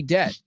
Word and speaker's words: debt: he doesn't have any debt that b is totally silent in there totally silent right debt debt so forget about the be ignore that b but I mean when you'll see the word in your head I want you to see D so you bet you bet is another way I'm I'm playing with words here Laura you bet is CL you bet bet rhymes with debt let's see Laura also